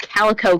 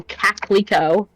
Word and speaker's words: calico: Like my dad pronounced the word calico caclico.